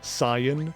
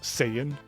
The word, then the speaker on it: Saiyan: wrong pronunciation I mean I'm also the kind of dude that says Sayan instead of Saiyan um because just because the English dub is wrong doesn't mean I have to be everyone in